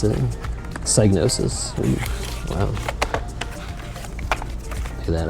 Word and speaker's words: Psygnosis: Does not look like Lemmings to me, but that is some lemons, as they show you how to pronounce it. Psygnosis.